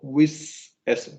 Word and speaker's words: whistle: Whistle. yeah. Whistle. T is silent.